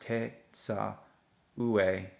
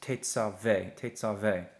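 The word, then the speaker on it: תְּצַוֶּה: in the middle, but I know that this word is actually pronounced as te, tsa, ve. Te, tsa, ve. So I'm not sure why that dagesh is there, to be honest with you, that dot. It shouldn't be pronounced te, tsa, ue. That would be incorrect. It's tetzave, okay?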